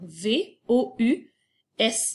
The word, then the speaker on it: vous: Donc, V-O-U, S muet à la fin.